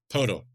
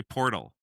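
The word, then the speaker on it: Poeltl: Pal. Pal. I was going to say portal.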